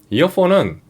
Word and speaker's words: EarFun: 이어폰은 2018년에 설립된 중국의 무선 음향 전문 브랜드입니다. 이어폰과 발음이 거의 비슷하거든요. 이거 딱 들었을 때의 둘이 구분하기가 거의 쉽지 않아요.